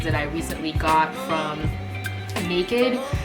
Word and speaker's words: NA-KD: I recently got from Naked. It's spelled N-A-K-D, so it's Naked without the E.